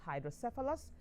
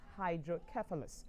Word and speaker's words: hydrocephalus: language and the British the Americans say it's hydros and the British say it is hydrus so whichever way you pronounce it you're still not wrong um I would like